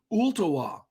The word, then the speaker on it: Ooltewah: that and I said ultawa the L is silent it's o-l-l-t-e-w-a-h I said and she